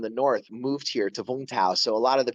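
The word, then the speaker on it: Vũng Tàu: So Vung Tau, it's actually pronounced. It looks like Vung Tau, but it's Vung Tau.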